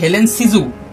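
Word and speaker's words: Hélène Cixous: তিনটে ফেমিনিস্ট কারা তিনটে ফেমিনিস্ট হচ্ছে ফাস্ট হচ্ছে হেলেন সিজু সেকেন্ড হচ্ছে লুসি ইরিগারেট আর থার্ড হচ্ছে ইউলিয়া ক্রিস্টেভা এই তিনটে হচ্ছে ফ্রেঞ্চ ফেমিনিস্ট তো এই তিনটে ফ্রেঞ্চ ফেমিনিস্ট হচ্ছে হেলেন সিজু উচ্চারণ ঠিক করবে লুসে ইরিগারে লুসি আর জুলিয়া নয়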